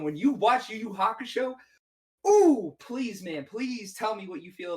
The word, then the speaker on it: Hakusho: The was it Yu Yakusho? I don't even know how to pronounce it. I don't Yu even. Yu Hakusho, bro.